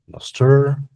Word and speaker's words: Nostr: Is it Nostr, Nostr? How do I pronounce it?